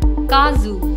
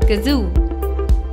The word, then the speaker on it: kazoo: air from the mouth it is often incorrectly pronounced as Kazu please remember there has to be a very